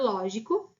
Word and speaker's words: lógico: não ser a palavra lógico, levam acento na última sílaba. Lógico leva na antepenúltima.